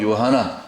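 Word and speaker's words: יוחנן: 히브리어 발음은 요하나.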